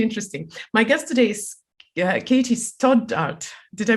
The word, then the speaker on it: Katie Stoddart: My guest today is Katie Stoddart. Did I pronounce it properly?